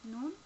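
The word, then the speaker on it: נון: Here you would see the Nun. Again, we have two characters because this one is a final Nun and this is just an ordinary Nun. It sounds like N as in new.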